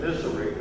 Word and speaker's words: Missouri: So this time I want to say, those people out in Columbia, Missouri, that's how it's said, Missouri out there.